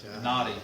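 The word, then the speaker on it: Knotty: that we went to it's k-n-o-t-t-y naughty shop and that's david by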